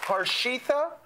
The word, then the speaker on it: Harshita: Get on up here, Harshita. Thank you so much. I'm sorry if I butchered your name. I'm going to try it again. Harshita? Yes, that's right.